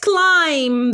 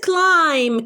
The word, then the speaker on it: climb: of trees you mustn't climb them you mustn't climb climb this word climb climb is a verb okay climb climb so this b is silent we don't pronounce it so we are talking